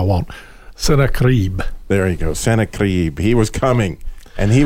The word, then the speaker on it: Sennacherib: There you go, Sennacherib.